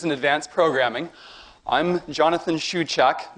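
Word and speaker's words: Shewchuk: advanced programming I'm Jonathan Shu chok my last name is pronounced Shu chok my email is j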